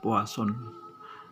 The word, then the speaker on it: Poisson: membahas tentang distribusi poisson tulisannya Poison tetapi kita membacanya adalah puas on kalau kita melihat dari